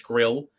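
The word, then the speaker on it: Grlj: Um, but could Grill if you were to draft say a Sam Grill or Sam Grill, got to say his name right because it's not Grillage, it's Grill.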